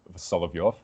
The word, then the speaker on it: Solovyov: had an interest in Russian mystics like Vladimir Solovyov it's how you say it so Dugan just